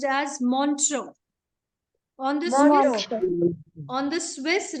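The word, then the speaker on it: Montreux: u x children please pay attention to the pronunciation it is montro what what is it montro the spellings are m o n t r e u x but it is pronounced as montro on the on the Swiss Ria Ria is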